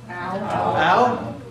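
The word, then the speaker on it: αυ: Next is alpha upsilon. Ow.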